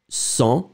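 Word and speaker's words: sont: First one, son, final T, not pronounced.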